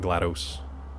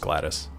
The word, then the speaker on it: Gladys: Gladys, not GLaDOS. Yeah, it's just Gladys.